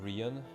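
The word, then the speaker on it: Ríoghan: Rogan is pronounced Rian, meme language. You're telling me this is Rian? Rian? So kind of like Ryan.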